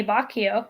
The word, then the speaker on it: Boccaccio: Here's a great quote from Giovanni Boccaccio. That's how you pronounce that.